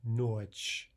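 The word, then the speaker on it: ночь: And notch, notch. So that final soft sign on the word notch is not affecting the pronunciation at all.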